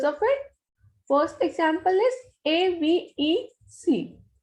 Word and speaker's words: avec: First example is A-V-E-C. This is ending with C, so it will be pronounced completely.